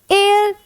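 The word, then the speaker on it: heir: ही इज एयर to throne. अब ये क्या है हमारा? देखो एच साइलेंट है और ई इसका मतलब होता है बेटा उत्तराधिकारी।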